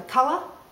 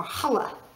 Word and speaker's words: challah: we're talking about um Hala uh spelled Chala but pronounced either kala or Hala okay let's to um